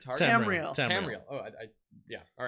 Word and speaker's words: Tamriel: And then we'll go to Tariel. How do you say it? Tamriel.